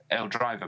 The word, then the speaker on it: L Driver: He says, L Driver, pronounced L, sounds a lot like the famous Al Bundy, or just L. Driver, like the driver of a car.